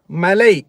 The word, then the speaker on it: மலை: மலைச்சாரல் அதான் அந்த தமிழ் உச்சரிப்புல வந்து லை லை லாய் அதே மாதிரி ட ரா ரெண்டு உச்சரிப்பும் கவனமா இருக்கணும். ஏன்னு சொன்னா ஜீவா ஜீவா மழை வராது. மலை அதாவது மவுண்டன்.